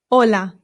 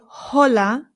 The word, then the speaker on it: hola: Ola. Ola. Very good. It's important to note that the H in Spanish is always silent. No exceptions. So, we don't say hola. It's just hola.